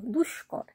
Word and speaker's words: দুষ্কর: দয় শূন্য র তাইতো দুষ্কর এখানে কিন্তু দন্তস এর সঙ্গে ক রয়েছে তখন আমরা কিন্তু স এবং ক দুটোরই কিন্তু উচ্চারণ করছি আবার ধরো বিস্তর এখানেও